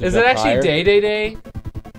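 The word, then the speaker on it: Dedede: Wait, someone actually pronounced the king Day-Day-Day? Yeah, I think that's correct. I think that's how you would say it in Japanese.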